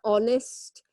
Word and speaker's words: honest: The honest. Some words we pronounce the H, sometimes we don't pronounce the H.